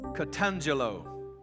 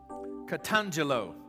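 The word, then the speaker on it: katangello: word for the word proclaim is the word catangelo catangelo now you spell that k-a-t a-n-g-e-l-l-o catangelo well let me break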